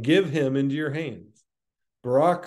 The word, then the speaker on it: Barak: And some people call him Barak. I think I might like that pronunciation better, but I don't think it's accurate. I think it's Barak. Son of Adoniram, from Kadesh